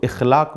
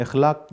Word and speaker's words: اخلاق: اخلاق کو اصطلاح میں بعض ہمارے دوست اس کو اخلاق بھی کہتے ہیں۔ اخلاق غلط ہے، اس کا صحیح تلفظ اخلاق ہے۔ اخلاق اصطلاح میں وہ